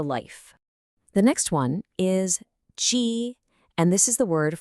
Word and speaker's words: 鸡: The next one is Ji, and this is the word for a chicken, a hen.